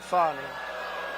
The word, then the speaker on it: Fani: What do you think, Fani? Huh? F-A-N-I. That's pronounced Fanny, but you're not allowed to say it. It's Fani.